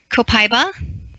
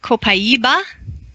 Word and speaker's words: copaiba: The Americans say copaiba, and the Brazilians say copaiba, and that is from a tree in the in Brazil.